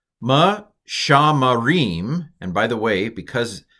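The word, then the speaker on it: מְשַׁמְּרִים: It's a doubled mem, that has to be a vocal schwa. And since this first schwa is under the first letter, which coincidentally is also a mem, it's a vocal schwa as well. Ma-sham-ma-rim. Pronounce the M twice if you're really good.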